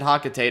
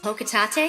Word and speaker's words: Hocotate: out that his company, Hocotate Freight, yes, I pronounce it Hocotate, I don't care what Polatina says. Hocotate?